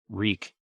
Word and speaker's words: Reek: not even help himself reek reek it rhymes with meek all about the yard